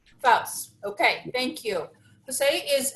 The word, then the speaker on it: Faus: Tell me the last name again, so I don't mess up the pronunciation. Faus. Faus.